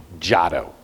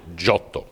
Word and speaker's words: Giotto: or as we mutilate that name in English Giotto okay but after an evening with me you'll pronounce it shuttle okay and you'll also do the dramatic hand